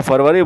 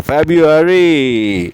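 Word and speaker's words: February: फरवरी जो हिंदी में फरवरी बोलते हैं। तो बहुत से लोग कहते हैं इसको फरवरी नहीं ये होता है फब यू एरी फब एरी फबरी।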